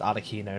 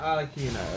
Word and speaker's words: Arlecchino: I think someone corrected me that it's pronounced arlecchino, not arlecchino.